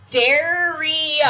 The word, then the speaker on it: Dariah: Daria. So sorry that we Daria.